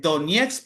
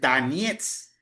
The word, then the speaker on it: Donetsk: Es que el problema es, por ejemplo, todo el mundo dice Donetsk porque uno lee Donetsk, pero lo que pasa es que en ruso, si vos pronuncias, si el acento cae en una sílaba que no sea la O suena como A, entonces realmente la pronunciación correcta es Donetsk, Donetsk, pero nosotros decimos